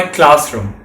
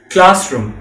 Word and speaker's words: classroom: would go to my classroom remember the correct pronunciation is classroom and not classroom the ooh sound is short just like how you say books it is not like how you say school well anyway after that